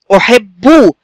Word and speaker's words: أحبه: طب بيتنطق إزاي؟ أحبه، صوت باء ساكنة وبعديها باء مضمومة، بو بو بو، هكذا.